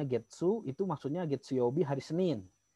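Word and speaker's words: 月: Itu dibacanya Getsu, itu maksudnya Getsuyobi hari Senin.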